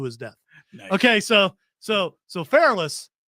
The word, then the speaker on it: Perillus: Okay, so Pherolus said, Perillus. Which pronunciation you going Pherolus said, Perillus, I need to torture these people Same guy.